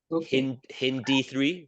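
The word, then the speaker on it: HindIII: people say this is Alo one saw one H hindi3 that's how you say it I know it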